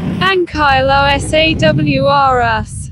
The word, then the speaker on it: Ankylosaurus: ankylosaurus means huge lizard the name ankylosaurus is pronounced van Kyle OS awr us the ankylosaurus was part of a group of